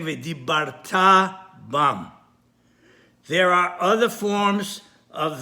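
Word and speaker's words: וְדִבַּרְתָּ בָּם: In the Kriyat Shema, as another example, many make the mistake of pronouncing the word v'dibarta bam, which it should be pronounced on the last syllable, because the vav is a vav hibur.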